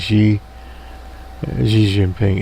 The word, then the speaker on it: Xi Jinping: under she's a shizzi missing ping now usually pronounce his name right but anyway nonetheless president xi jinping anyway the president of china and the massive